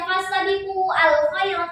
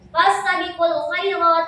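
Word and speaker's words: فاستبقوا الخيرات: Gak dibaca lagi, bukan dibacanya fastadiqu al-khairat, gak bisa. Fastadiqul khairat karena di sini bukan hamzah qata tapi hamzah wasol.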